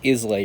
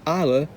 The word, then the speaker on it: Islay: an AA whiskey loose yes that is pronounced AA I thought it was islay or something nope it's Isa and this is what